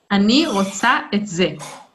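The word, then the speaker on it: אני רוצה את זה: this, then you say, Ani rotse ze. Okay, great. Very, very close. So the thing you need to say is, Ani rotsa et. Ani rotsa. What was that? Ani rotsa et ze.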